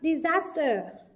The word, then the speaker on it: disaster: Câu số 2, disaster, disaster, trọng âm rơi vào âm tiết thứ hai.